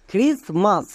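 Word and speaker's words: Christmas: আর আই এস ক্রিস এখানে টি কিন্তু silent এবার কেন সাইলেন্ট এর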